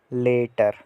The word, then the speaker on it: later: वो जो LAY मैंने लिखा है ना, वो इसकी प्रोनाउंसिएशन है, लेटर।